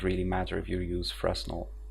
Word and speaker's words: Fresnel: matter if you use Fresnel, or I don't even know how it's properly pronounced, Fresnel, because it's French.